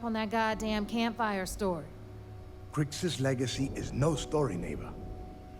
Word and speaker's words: Kryx: This that's the right way to pronounce it. Kryx star system.